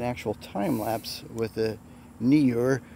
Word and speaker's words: Neewer: time lapse with the knee or there's another pronunciation newark that's just got an official chinese said no it's a knee or which makes kind of sense because that would be more phonetic but anyway what are